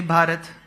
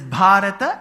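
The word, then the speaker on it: Bhārata: it's Arjuna and bhata why do then people say bhat they should be sitting for my lecture so it is bhata and not bhat technically correct if you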